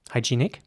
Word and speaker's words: hygienic: word in english now in british english it would be pronounced hygienic with a long e sound in the middle hy g nic hygienic and in american english it would be more like hygienic and once again the e at towards the end that is pronounced like an ä hygienic hygienic here's an